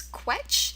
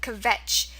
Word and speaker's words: Quetsch: So we have two pronunciations, Quetch, and then we have Kvetch. If you recall, from the German videos, usually when there's a V sound in German, it's spelled with a W. Okay, so usually when you have like, I don't know, if you have the word winter, in German it's going to be pronounced Winter, right? Because the W makes the V sound.